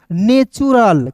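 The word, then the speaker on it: natural: नेचुरल।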